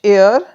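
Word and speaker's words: heir: पर H silent है अब यह एच से शुरू है पर यहां पर एच साइलेंट है और साउंड किसकी आ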